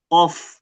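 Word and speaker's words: ق: Nah dia pelafalannya gimana? Qof ya. off. Jadi agak tadi kita pastikan dulu dia ee menyentuh bagian belakang dulu pangkalnya dulu ya.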